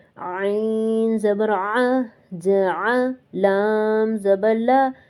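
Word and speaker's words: عين: If you don't clear it, it will sound like Hamza, so it has to be pronounced in the throat Ain Zabar, Aa Jaal Zabar, La Jaal, Waqf Jaal, Jam Zabar, Ja Meem Zabar.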